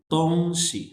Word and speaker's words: 东西: 东西 अच्छा, टोन्स को देख के, शी पे कोई टोन नहीं है, तोंग शी।